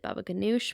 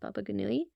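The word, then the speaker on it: Baba ghanoush: how to pronounce this my family always pronounces it Baba G but I'm pretty sure it's pronounced bagui the eggplant dip Mediterranean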